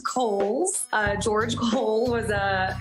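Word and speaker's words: Cowles: much it is pronounced Kohl's uh George Cole was a an early land owner developer out in the East County area so holes Mountain like the department store and backed by popular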